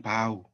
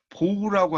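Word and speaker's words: bow: 그리고 절하다 할 때는 바우 이렇게 읽힙니다.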